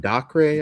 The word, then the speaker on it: Dacre: It stars, I never know how to say his name, Dacre, I believe is how you say it, Montgomery, and Barbie Ferreira from Euphoria.